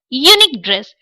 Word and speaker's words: unique: But we pronounce it unique dress.